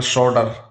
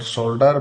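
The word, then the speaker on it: solder: शोल्डर धातु जोड़ने की प्रक्रिया in American English L is silent. So इट it will be called शोर in Indian terms it is called शोल्डर बट in American terms it is called शोर word जंगल Germanic term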